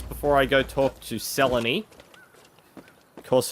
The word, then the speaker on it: Selene: I go talk to Selene. Of course, her name rhymes with felony.